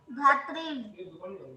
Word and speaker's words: धात्री: तो यहाँ पर अगर हम धात्री। मैम उसको प्रोनाउंस कैसे करेंगे? उसे इस तरह से करेंगे, उसे बोलते हैं अ आ ई, तो ऐसे ही री री, तो क्या हो जाएगा? धात्री।